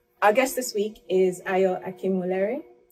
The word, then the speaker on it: Ayo Akinwolere: So our guest this week is Ayo Akinwolere.